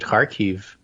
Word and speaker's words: Kharkiv: learned to pronounce it, Kharkiv region. Okay. It's KH, but you pronounce the KH like you would Hanukkah.